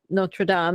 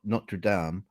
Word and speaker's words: Notre Dame: You pronounce it correctly, not Notre Dame, as in Notre Dame.